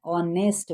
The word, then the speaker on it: honest: He is an honest man.